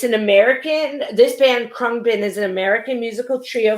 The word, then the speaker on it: Khruangbin: i may go on it's krung bin which which literally means flying engine or airplane in thai um it's an american this band krung bin is an american musical